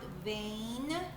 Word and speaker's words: vein: The EI makes the long A sound, vein. So let's say the sounds V, A, N.